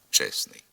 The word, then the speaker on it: чесний: більшості випадків не вимовляється так наприклад при творенні прикметника від іменника честь виник збіг трьох приголосних стн честний і середній приголоснийт зник у вимові він не фіксується і на письмі вимовляємо і пишемо чесний найчастіше спрощуються як у